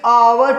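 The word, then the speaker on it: hour: है लगता है जी ह को हटाकर जब प्रनंसीएशन करेंगे ना अब बोलेंगे अवर ए बोलेंगे ना आप विदाउट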